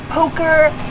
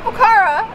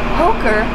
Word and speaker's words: Pokhara: Pokhara, apparently that's how it's pronounced. I actually. Not Pokhara. We've been saying it wrong for a few days, but I finally Googled it and it's Pokhara.